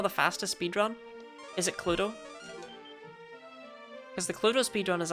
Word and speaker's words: Cluedo: Or she won't call it Cluedo over in the States. My American viewers wondering what the hell that is and why we add an extra syllable onto clue.